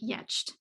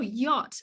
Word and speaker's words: yacht: it and you come up with something like yed um so it's not like you you get